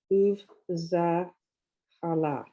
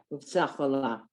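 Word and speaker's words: ובצהלה: Uv Zachala. Uvtzachala, the two dots Uvtzachala.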